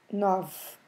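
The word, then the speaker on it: nove: let's repeat again o number nine is nov same situation we we've seen with number seven set so very soft at the end so we drop the the e at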